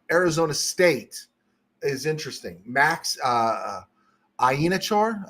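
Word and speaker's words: Iheanachor: Max Ienachor, I think that's Ienachor. Is that how it's pronounced? I thought it was Acor. It's Achor.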